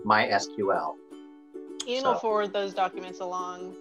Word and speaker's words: MySQL: language called mysql and in their specification they inform you how to pronounce the name of their software and it is to be pronounced mysql and forward those documents